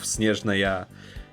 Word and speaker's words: Snezhnaya: August of 2025 for 6.0 and release of Snezhnaya. Yes, this is the right way to pronounce it.